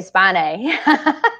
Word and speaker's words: spinae: the erector spinae and there's a lot of different ways or spinae sorry um depending on on where you're from and how you say it but um you know i'm from the south and so i say spane but uh you know